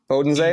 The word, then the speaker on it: Bodensee: So after we hang out in Munich, we head southwest towards the Obersee Bodensee, I think. Is it pronounced, Tristan, on the southwestern edge of Germany? Bodensee?